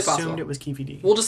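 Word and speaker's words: Keffe D: Keefy D. Keefy D? Keefy D. Damn, I knew I was going to mispronounce something.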